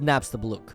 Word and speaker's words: Napstablook: It's pronounced Napstablook.